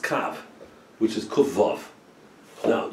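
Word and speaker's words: קוה: The gematria of kufav hey is 111, but it's pronounced without the hey. It's pronounced kav, which is just kufav.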